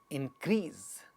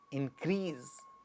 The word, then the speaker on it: increase: this to increase so the second one gets stressed increase increase begin to this this